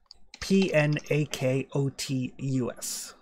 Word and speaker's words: Pnakotus: the planet, and their greatest city was called Nakotis. Pnakotus. Sorry, I'm going to need you to put that in chat or spell it again.